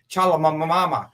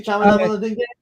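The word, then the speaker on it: Timothée Chalamet: It's Timothy Chalamamama. Are you talking about Timothy Chalamet? Yeah, according to Keegan-Michael Key, it's Timothy Chalamet. Is Timothy Chalamet here?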